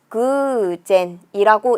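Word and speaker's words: 偶然: 짝 우자에 그럴 연자 써서 그젠이라고 읽는 거죠.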